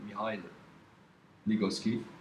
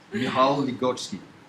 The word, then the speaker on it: Michal Ligocki: interview of our dear Michal Ligocki, I think I said it right. You didn't. Fuck. Michal Ligocki. Much better.